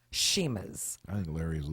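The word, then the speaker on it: Chima: oh that's right sheim sheima although it has CH it's it's pronounced sheima I think Larry is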